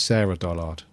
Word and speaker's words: Sarah Dollard: that we've got um we've been saying her name wrong it's Sarah Dollard oh Sarah Dollard why